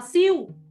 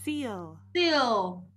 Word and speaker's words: seal: Nhiều bạn đọc là siêu. hoặc là xin hoặc là xin là I don't know why you got that pronunciation, but we got seal.